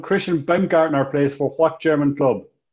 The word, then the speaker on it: Baumgartner: I pronounced that one right. It is Christian Baumgartner.